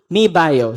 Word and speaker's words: MII Bio: Mi Bio, so that's how we pronounce it, Mi Bio.